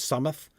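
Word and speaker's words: Solmath: just like the pronounce the pronunciation of s o l m- a th is sumoth right that's also a very English wearing down um we remember from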